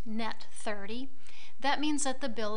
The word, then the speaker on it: net 30: on the invoice say n30 which is pronounced net30 that means that the